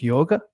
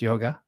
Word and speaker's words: yoga: it in terms of yoga yog yog is how it's pronounced in the west we call it yoga um so yoga which